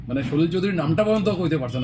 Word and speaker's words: সলিল চৌধুরী: একটা একটা জায়গায় প্রোনাউন্স হয়েছে শশি চৌধুরী। মানে সলিল চৌধুরীর নামটা পর্যন্ত কইতে পারছে না।